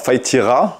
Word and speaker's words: faï tirar: alors fa tira on prononce pas le r C'est du provençal et